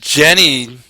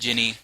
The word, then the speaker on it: Ginny: I think Jenny, is that how you say it? Ginny. It's got an I. Ginny.